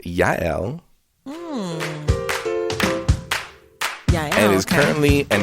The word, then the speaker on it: Jael: and fun fact jl is more commonly pronounced yael yeah and is currently